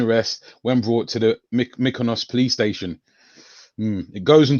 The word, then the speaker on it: Mykonos: Mykonos, yeah.